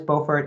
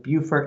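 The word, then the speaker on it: Beaufort: I think North Carolina is Bowfort and it's Bufort and South Carolina.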